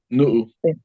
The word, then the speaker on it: nu'u: Is it nu'u or just nu? Nu'u. Nu'u.